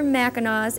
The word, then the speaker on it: Mackinaw: By the way, Mackinaw City is spelled the British spelling with a W, while the other Mackinaws end with a C, which is the French version. But they're all pronounced Mackinaw, and that's your spelling lesson for today.